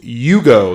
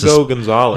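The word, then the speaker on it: Hugo González: He said today in his press conference, it's it's Hugo. The H is silent. Hugo Gonzalez.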